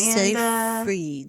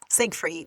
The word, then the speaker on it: Seyfried: Seyfried. It's Siegfried. Siegfried. But that's how they say it. So I don't know Ain't how. no G in there. Seyfried. They say Siegfried.